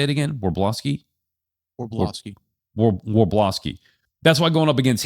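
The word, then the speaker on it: Wrobleski: Warblowski.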